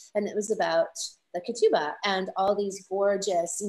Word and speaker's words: ketubah: Years ago, I actually, and you'll have to correct me if I'm pronouncing it wrong, but the ketubah, or how do you pronounce it?